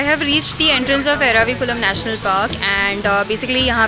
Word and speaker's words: Eravikulam: Ervikulam. Okay, sorry for the wrong pronunciation.